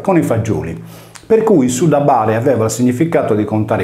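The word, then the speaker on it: syllaba: In conclusione, con le regole grammaticali del tempo, il termine si identificava con sudaba.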